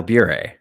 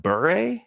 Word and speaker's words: Bure: I pronounce it Pavel Bure.